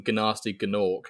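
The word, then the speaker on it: Gnasty Gnorc: So you are pronouncing it correctly, which is fantastic, even though there are 2 G's there.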